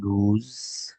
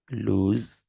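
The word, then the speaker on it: lose: দিচ্ছি লস এটার উচ্চারণ হচ্ছে এটা ভার্ব এটার উচ্চারণ হচ্ছে আমাদের লুজ আহা আহা লুজ দীর্ঘ উকার দিয়ে আর কি হ্যাঁ অর্থ হচ্ছে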